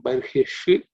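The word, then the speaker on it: बर्हिषि: Ayajanta Sadhya Rishayas Chaye In terms of pronunciation Tam Yagnam Barhishi Rishi is cerebral sha.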